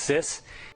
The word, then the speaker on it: CIS: Yes, it's pronounced sis.